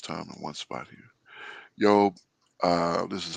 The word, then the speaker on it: Iyob: Yeah, Eov.